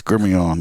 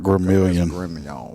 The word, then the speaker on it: Gremillion: it Ilion all right it's the Louisiana style Kevin up here he